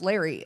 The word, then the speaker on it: Laray: like it's like it's it's spelled Laray but pronounced Larry and so many people